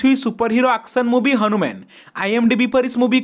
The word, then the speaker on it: HanuMan: release के बारे में मैं पहले इस मूवी को हनुमान प्रोनाउंस कर रहा था लेकिन तेजा साजा का इंटरव्यू देखने के बाद मुझे पता चला कि इस मूवी का नाम हनुमान नहीं हनुमन है अगर आप जानना चाहते